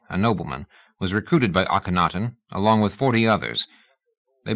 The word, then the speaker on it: Akhenaten: He was an ancient Egyptian, one of a party led by the pharaoh Akhenaten, or Ikhnaten, as some pronounced it.